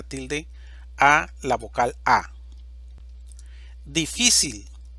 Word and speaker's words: difícil: a la vocal a difícil división silábica difícil sílaba tónica phi Esta es una palabra